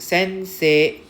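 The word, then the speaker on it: せんせい: Next, sensei. Sensei. So why they actually emphasize this is because it's an A sound. They just want to say how to pronounce this as E-I, A. A. So sensei.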